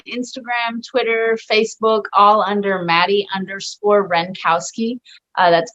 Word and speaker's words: Madi Wrenkowski: Yeah, it's very easy to pronounce and spell once you slow it down in your head. It's not one of those, you know, that has a silent like eyes hidden somewhere that.